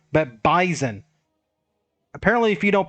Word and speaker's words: Bison: Not Bison, but Bison. Apparently, if you don't pronounce it correctly, they'll take it personal, so